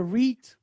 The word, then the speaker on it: REIT: major difference between a reit and how does it work sure well you you've already uh learned something because you pronounce it right it is re so uh that's correct